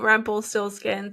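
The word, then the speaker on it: Rumpelstilzchen: No, but the story became Rumpelstiltskin, so it's like Rumpelstiltskin. I don't know. Rumpelforeskin. I'm so sorry. This is why they simplify things for us, okay? Because we can't even pronounce them. Okay, it's Rumpenstiltschen.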